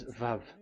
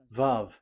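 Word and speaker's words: וָו: We called it as VAV. VAV. Your mouth is like closed. VAV. So it's V as in Vogue.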